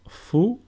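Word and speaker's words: Φι: Phi, which is pronounced fou, and a sample word is φίδι, which means snake.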